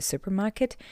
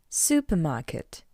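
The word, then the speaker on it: супермаркет: Therefore, to pronounce this word in Russian, you just need to read the English version with the Russian accent. Supermarket. Supermarket. Supermarket. How you can understand? It's all about the sound R.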